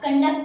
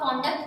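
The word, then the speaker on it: conduct: CON कन या फिर कौन, आप स्पेलिंग को पढ़ के देख लो। आप कंडक्ट को आप कॉन्डक्ट पढ़ोगे तो आपको भी ऑकवर्ड लगेगा। अब आपने कंडक्ट तो सुना हुआ होगा ना, तो आपको पता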